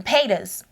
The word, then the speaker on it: Paytas: Pas.